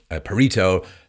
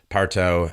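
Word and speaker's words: Pareto: there's something called now it's been pronounced a bunch of different ways Pito parto and Paro I'm just going to go with Paro it's called the Paro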